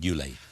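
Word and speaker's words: Ulay: It is said that there was, and I mentioned men in your life, I think I'm pronouncing this right, Yule.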